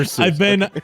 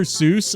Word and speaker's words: Seuss: to ruin your day, Dr. Seuss, according to all the people that knew him in real life, didn't pronounce Seuss as Seuss. He pronounced it Seuss because it's a German name.